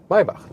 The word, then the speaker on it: Maybach: Maybach, listen and repeat.